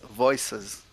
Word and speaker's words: VoicAs: we have it yeah it's it's voices like a land of voices yeah multiple voices yeah yeah perfect i